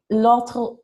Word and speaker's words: l'autoroute: Sur l'autoroute. L'autoroute. Don't forget that AU is always O. I know. I keep on wanting to pronounce it like in Spanish.